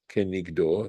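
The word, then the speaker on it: כנגדו: V'kavanat halashon ukrinan kenigdo, and the intention of this expression, and we actually pronounce it as kenigdo.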